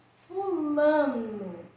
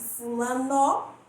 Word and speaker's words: fulano: Fulano. Se eu falasse fulano, daria a impressão de que a sílaba mais forte é a última, não é isso?